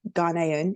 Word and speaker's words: Ghanaian: Japanese, your dad's Ghanaian. Is that how I pronounce it?